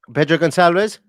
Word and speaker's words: Pedro Gonçalves: Pedro Gonçalves? Yes, that's the one. That's the one. That's how you pronounce it.